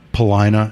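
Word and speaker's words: Paulina: knows the the city three streets in Chicago that rhyme with vagina and it's medina Polina and want sermon and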